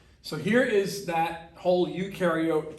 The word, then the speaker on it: eukaryote: here is that whole eukaryote prokaryote uh definition okay u rhymes with dew they do have a